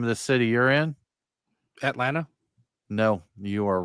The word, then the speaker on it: Atlanta: It doesn't have a second It doesn't have a second T in it. That's I don't I swallow that though. Usually I there I didn't say the second T.